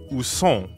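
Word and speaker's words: où sont: are the bathrooms uh-huh so that would be usong right is nasal so it rhymes with bone like at the beginning of bonjour toilette wallet toilette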